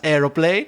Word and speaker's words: aeroplane: it and saying it, AERO, PLANE, and that's pronounced aeroplane. With 3 syllables. 3 syllables. Maybe that's like the Portuguese version. Futebol, podcast, aeroplane.